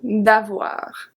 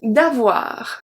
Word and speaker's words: avoir: D'avoir. D'avoir. O-I make the sound wa. Wa.